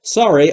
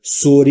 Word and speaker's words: sorry: دوستان در مورد تلفظ sorry هم دقت بفرمایید. سوری یا هر چیز دیگری نیست. Sorry, sorry.